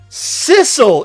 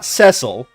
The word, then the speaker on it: Cecil: I've got to I've got to actually Sisle is a cat, not Ceil. Yeah, but similar pronunciation.